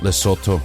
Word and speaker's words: Lesotho: so which is it well it's lesotho even though it's spelled with an o in the middle but i didn't know